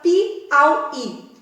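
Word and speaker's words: Piauí: Pensa na palavra pi-au-i. As sílabas são pi, au, i. Poxa, qual é a tônica? É o i, a última sílaba.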